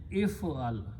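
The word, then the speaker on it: افعل: Now, if I put an alif in the beginning and pronounce as if'al, this is an order, this is a command.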